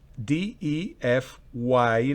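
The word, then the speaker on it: deify: En la segunda palabra el acento está en la primera sílaba fonética.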